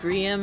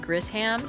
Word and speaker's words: Grisham: I also learned that his name is pronounced Gham and not Gryam.